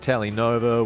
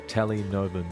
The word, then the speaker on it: Telenova: It's under Telenova Music, and that's Tele spelled like Telecaster for the Fender buffs out there.